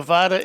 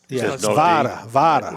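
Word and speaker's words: Vara: Yeah, and the VADA is spelled V-A-R-A. It's not Right. It's VADA. V-A-R-A.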